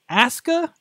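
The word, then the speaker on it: Asuka: one thing right because Japanese pronunciation you never pronounced pronounce the youu okay but is Asa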